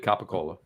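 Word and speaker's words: capicola: Um, hot imported capacola. Thank you for pronouncing it properly and not like a new tri-state area.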